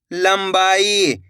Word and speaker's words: लंबाई: अब आगे देखिए लंब बा ई तो मिलके बन जाएगा लंबाई। इस शब्द के अंदर भी अपन ने आधा मा का उच्चारण करा है।